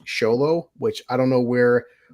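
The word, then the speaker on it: Xolo: actually sh so it's Show Low which I don't know where XO turns into show but his name is Show Low so I'm like I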